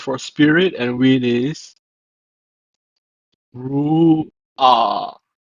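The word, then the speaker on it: רוּחַ: And finally, the word for spirit and wind is Ru'ah. Ru'ah. Notice that even though this is a hat, it's not pronounced as ha, but as ah, ah, instead of ha. So it's Ru'ah.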